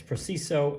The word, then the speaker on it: Prexiso: But yeah, it's Prexiso, and it's a Swiss brand that makes precise measuring tools.